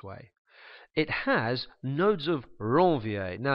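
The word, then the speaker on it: Ranvier: nodes of ronier now you can decide how to pronounce this word here you might call it Rania you might call it Ron I like to say it a little bit like a motorcycle revving its engine Rong something along those lines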